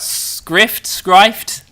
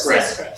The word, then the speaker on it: Skrift: How do we pronounce it? We hope it's Script because we've been saying it that way. It's a Danish word. Yeah. And to be honest, we didn't hear any Danish speakers speak it.